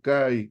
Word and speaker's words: chi: Acuérdense que la chi, también la pueden pronunciar como kai, como kai, como kai, kai, así como la conjunción.